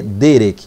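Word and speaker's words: דרך: traduzida como caminho né a palavra é Derek Derek a expressão Derek tá ou você pode pronunciar Derek fica à vontade lá para falar como você quiser na aula então a pronúncia aqui é Derek Então essa expressão Derek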